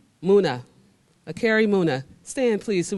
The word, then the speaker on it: Muna: Akri, I said that too, Muhana. Is that right? Almost. Say it right. Tell me to say it right. Muna.